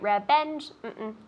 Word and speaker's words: revenge: Separate revenge. Revenge. Tell me. Revenge. Nice. Revenge. Get it. And I can see her teeth, and they're touching the top of her bottom lip. So revenge.